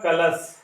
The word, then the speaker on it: कलश: एक शब्द होता है, आपने सुना होगा कलश, जिसमें दंती सा होता है, गलत होता है, बल्कि कलश में कौन सा सा रहता है, तालव्य सा। इसका ताल से होता है उच्चारण, इसका किससे होता है, दांतों से होता है।